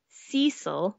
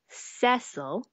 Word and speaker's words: Cecil: have that joke where Bob calls Dot's waiter Cecil when it's pronounced cesil yeah um and there's